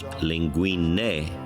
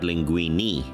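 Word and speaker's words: linguine: from it anyway well I learned that it's pronounced lingu not Linguini Linguini Al lingu I made Chinese dumplings for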